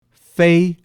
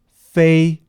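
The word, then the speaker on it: 飞: I will pronounce them for you now. Fu, which means blessing. Fu, blessing. Fei, which means to fly. Fei, fly.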